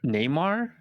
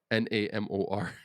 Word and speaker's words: Namor: He's called Namor. I don't Namor. even know what IP he's from, to be honest with you. Uh is the character appearing Neymar? Namor.